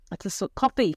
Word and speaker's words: Ko-fi: or something, I think that's why it's called coffee. It's actually spelled Ko-fi.